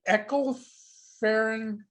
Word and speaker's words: Ecclefechan: Yeah, well, that is the Ecclefechan tart, and And trust me, folks, he's not swearing. no, Okay, no. that's the actual name of it. It's the Ecclefechan.